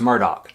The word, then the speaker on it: Murdaugh: Connor was a construction worker, and Paul was a Murdaugh, which is pronounced Murdaugh.